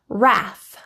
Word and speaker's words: wrath: W is silent when it comes before an R.